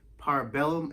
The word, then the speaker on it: Parabellum: John Wick Chapter 3 Parabellum, if I'm not mistaken, that's how you say it.